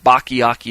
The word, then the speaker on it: Bacchiocchi: to do his research, Bachyiaki is the one you want to go looking for. His name is spelled capital Bacchiocchi, Bachyiaki.